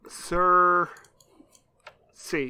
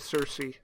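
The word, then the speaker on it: Cersei: first-rate I'm scared now is that actually how you pronounce it no I thought I knew but now I'm doubting myself because a game of throne sir see yes according to Wikipedia sir see okay all right I'm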